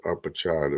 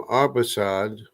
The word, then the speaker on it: Arpachshad: turn came from Arpachshad, or Arphaxad, as some people pronounce it. I think it's more like Arpachshad or something like that.